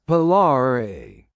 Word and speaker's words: Polari: How do you pronounce it? Polari. Okay. Po- Polari.